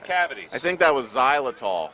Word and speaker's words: xylitol: Spearmint Trident with Exiltol. Supposed to fight cavities. I think that was xylitol. Xylitol. Well, whatever. I pronounce the X. It's a hard X.